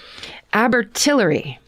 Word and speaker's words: Abertillery: More specifically, Abertillery. Mm-hmm. Parentheses. I don't expect you to be able to pronounce that. Abertillery.